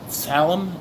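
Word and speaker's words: tzalam: So, uh, today we going to do I've got this piece of I think you pronounce it as salum. TZ A L A M.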